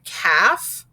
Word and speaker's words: calf: that silent l and silent l follows vowels a o and u and when that happens the l is silent so we have words like calf salmon chalk and yolk do you hear how we never heard the l sounds in those and when we check